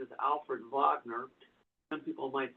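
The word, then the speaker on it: Wegener: German, I believe name, and it the correct pronunciation is Alfred Vagner. Some people might say Wagner.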